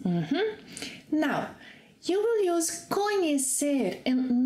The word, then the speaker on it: conhecer: Our second verb that is equivalent to know is conhecer. Remember the pronunciation of the sequence NH? If you don't, watch that class. So repeat after me. Conhecer.